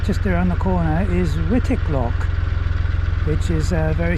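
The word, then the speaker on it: Wightwick: Although I'm informed that it's pronounced Whitik, not Whitewick.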